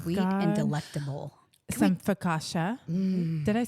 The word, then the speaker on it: focaccia: Some focaccia.